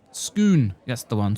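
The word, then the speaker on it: Scone: Pronounced Skoon. That's the one. Skoon.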